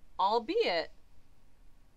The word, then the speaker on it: albeit: at it yup no you do pronounce the egg yeah albeit that's how she said to pronounce it thank god brother smart